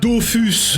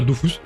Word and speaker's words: Dofus: let's go Dofus et je prononcera toujours Dofus et pas Dofus parce que je suis un rebelle et un punk gaming alors lui bon on a